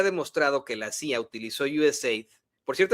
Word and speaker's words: USAID: utilizó USAID, por cierto, así es como se pronuncia. Yo no sé por qué incluso esta periodista le llama USA AID, no no es USA, o sea, la idea de del acrónimo es USA, ¿no?